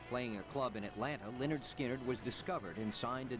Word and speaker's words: Lynyrd Skynyrd: album in November 1973 although pronounced Leonard skinnard was a hit the